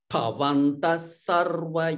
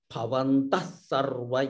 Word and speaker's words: भवन्तः सर्व: Here, in this bhavantas sarva, there is a visarga followed by sa. So you'll get the effect of a double sa. Bhavantah sarva evahi, like that.